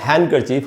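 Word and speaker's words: handkerchief: साफ करने के लिए, तो इसको इंग्लिश में बोलेंगे हैंडकरचीफ और इसमें डी साइलेंट होगा, इसलिए इसको हैंडकरचीफ नहीं बोल सकते, इसमें डी साइलेंट होता है।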